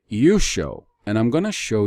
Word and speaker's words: Yeshua: I do not pronounce the Redeemer's name Yeshua. I pronounce it Yusho, and I'm going to show you why.